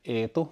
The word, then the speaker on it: E2: And if you pronounce that in Finnish like E2, it's like Eetu, which is like a nickname from Edward.